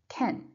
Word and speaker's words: can: are as follows so can is unstressed so in positive sentences for example we don't pronounce it like can you you don't say I can sing that's wrong it should be unstressed so instead of saying can you should say Canen so you say I